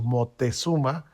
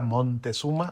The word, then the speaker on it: Moctezuma: Y hablabas de la ópera Moctezuma, no crean que lo estoy pronunciando mal, lo que pasa es que Vivaldi así le puso Moctezuma, o a veces el castellano antiguo era Montezuma o Así es.